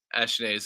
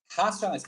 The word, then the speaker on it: Racionais: I'm saying that wrong, probably, but we Racionais. did. Say it again. Racionais. Oh, again, Ashnae's. other tip for you about pronunciation in Portuguese. The letter R in the front It's H, right? is H. Yes.